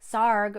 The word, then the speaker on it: Sarg: And here's a picture of Anthony Tony Frederick Sarg, and he lived from 1880 to 1942. And this cute little puppet says, Sarg rhymes with arg. And over here is a saying that Tony Sarg would say.